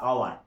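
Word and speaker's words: hour: তো দেখো, কিছু কিছু পারসেপশন থেকে যায়, যেমন ধরো অনেস্ট বা আওয়ার, এগুলো শুরু হচ্ছে অনেস্ট কি দিয়ে শুরু হচ্ছে,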